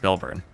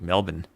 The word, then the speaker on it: Melbourne: It's Melbourne. Meb MB Melbourne. The R is kind of silent really. So, it's not like Melbourne. It's more like Melbourne.